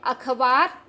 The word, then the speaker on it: अखबार: को बना देते हैं जो कि गलत है अखबार बोलिएगा इसको अखबार उच्चारण कीजिएगा अब आगे बढ़ते हैं यहां पर